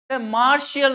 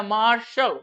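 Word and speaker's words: martial: देखिए beneficial, beneficial ऐसे नहीं, फेशियल नहीं होता, फेशियल, मार्शियल नहीं होता या मार्शल, मार्शल, और कंट्रोवर्शियल, आर्टिफिशियल।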